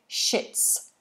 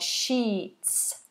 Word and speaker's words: sheets: the sheets for me now it's very important that you give this the full length of vowel we don't want a short I here because otherwise it sounds like a swear word shits shits we don't want that we want sheets sheets Felix cleaned the sheets